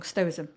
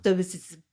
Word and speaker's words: stoicism: not know what's stoicism oh I got that right did you hear it before I was saying it wrong stoo stoicism stoicism yeah it's not the easiest word to do but got it the first time best thing anyone listens